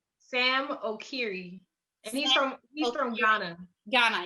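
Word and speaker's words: Sam Okyere: San Okiere. How do I say his name? Sam Okiri, and he's from Ghana.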